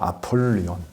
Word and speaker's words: 아폴리온: 근데 원래 그 영어식 발음은 아폴리온이에요. 아폴리온.